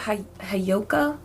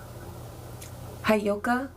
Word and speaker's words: Heyoka: Also, is it Hayoka empath? Hayoka empath, I think is how you say it.